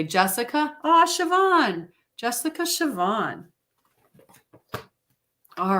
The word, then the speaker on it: Siobhan: I'm sure you get a lot of weird pronounced things they probably like shy all behind or Scio CEO or whatever James is a closer exactly so for Connie happy happy number 26.